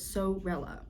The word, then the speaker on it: Sorella: haul for y'all from Sorella I always say her name wrong Sorella or is it suit I always want to say Suella but it's so rela yarn I have a